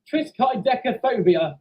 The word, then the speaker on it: triskaidekaphobia: conditioning to it Chris guys petticoda no it's pronounced triskaidekaphobia two five seven honestly you're all completely wrong